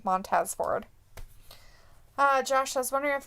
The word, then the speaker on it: Montez Ford: Is he, or however you say his name? Montez Ford. Montez, that's his name. Montez Ford.